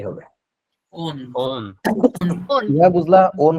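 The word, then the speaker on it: -one: ওনের বানানটা দেখতে কিন্তু ওয়ানের মতো লাগবে, বাট অ্যাকচুয়ালি উচ্চারণটা হচ্ছে ওন, ONE।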